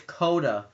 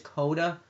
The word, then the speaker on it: Coda: It's Coda. It's soda. It's the word soda, except the S is replaced with the C. So I think it says. I think it's Coda.